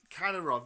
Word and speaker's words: Kadyrov: Is it pronounced Katarov. Kadyrov?